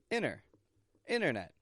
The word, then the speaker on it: internet: in this are silent I'm not saying internet but a quick and short inner internet with a Vanishing te in the middle and a stop t on the ending internet these are both